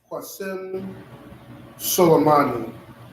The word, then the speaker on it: Qasem Soleimani: It was kind of hard to pronounce. It's Qasem Soleimani.